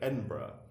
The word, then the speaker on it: Edinburgh: Just like Edinburgh, the Burgh always goes borough.